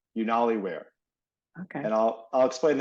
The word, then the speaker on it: Unaliwear: know so it sounds it sounds like YouTube so it's unware but it's spelled okay u n a l i w e a r unali Weare okay and I'll I'll